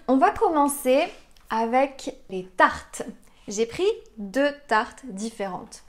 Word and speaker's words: tarte: tte t aux framboises ce qui est difficile ici c'est le mot tarte tarte le r que vous entendez dans tarte il est un peu plus léger peut-être que le r que vous avez l'habitude d'entendre pourquoi parce qu'il est à la fin de la syllabe tard tard ce que